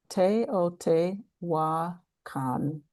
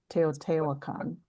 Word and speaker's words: Teotihuacan: Yeah, someone gave me the spelling I mean the pronunciation for the phonetics. Okay. Teotihuacan. Teotihuacan.